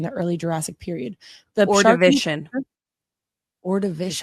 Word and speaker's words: Ordovician: during the late, did not look up the pronunciation of that word. It's the Ordovician. Ordovician.